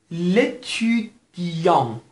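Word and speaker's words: l'étudiant: خدمتتون عرض کرده بودم ا و ان اگر به دنبال هم باشن در این صورت به صورت اوی تو دماغی تلفظ میشه، یعنی اون اون اون. اگه براتون سخته همون اون تلفظ کنید خیلی مشکل ایجاد نمیکنه. اما بدونید که تی که در پایان کلمه است تلفظ نمیشه و همینطور اس ها که در پایان قرار میگیرن معمولا تلفظ نمیشن.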